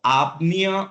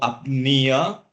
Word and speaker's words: apnea: can understand the terms so apnea or apnea once again can be pronounced either way it is nothing else